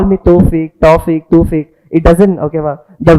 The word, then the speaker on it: Thofik: Actually I'm telling you the real pronunciation of my name is two syllables. Thofik. Okay va? Thofik is my name. It is just a toffee without K.